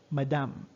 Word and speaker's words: madame: most students pronounce it in the local dialect madame so that's french pronunciation pronunciation actually so madame is for ladies